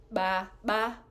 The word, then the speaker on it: baba: But ba, ba, we have to pull our lips in. Ya, ba, ba, vangu. So that's maybe the one tricky part in pronouncing this line.